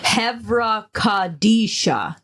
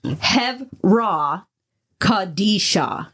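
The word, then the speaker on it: Chevra Kadisha: Heraisha. If I pronounce that wrong, honestly, people can correct me. Henry who? It's Hevra Kadisha.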